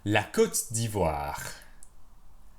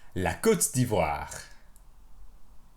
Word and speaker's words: la Côte d'Ivoire: La Côte d'Ivoire. La Côte d'Ivoire. La Côte d'Ivoire. La Côte d'Ivoire. La Côte d'Ivoire. La Côte d'Ivoire. Répétez. La Côte d'Ivoire.